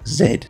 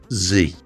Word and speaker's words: Z: Now, I'm British and I pronounce this letter Z normally, but for 3D printing, I found it more helpful to adopt the vernacular Z.